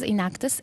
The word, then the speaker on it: Enactus: team so what does enactus it's actually a three-syllable world word that stands for a in which is entrepreneurial action act which is action and us for us also it's entrepreneurial action